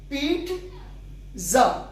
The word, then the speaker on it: pizza: में बिल्कुल ठीक है, इसके प्रोनाउंसिएशन में कुबाहतारी है और वो ऐसे है कि जो इसके नॉन नेटिव स्पीकर है वो इसको पिज्जा नहीं प्रोनाउंस करते, वो इसको प्रोनाउंस करते हैं पीट जा। पीट जा यानी टा साउंड भी उसमें वो मिलाते हैं। पीट पिज्जा यानी आई लॉन्ग वन हो जाएगा और इसमें एड टा साउंड का होगा, बाकी वही जी एंड आ साउंड यानी पिज्जा।